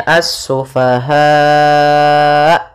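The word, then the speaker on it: السفهاء: Karena di sini mad mad wajib muttasil, yang mana 4 harokat, 5 harokat, ataupun 6 harokat. Kalau 6 harokat yaitu dia mad arid disukun. Maka cara membacanya as-sufaha.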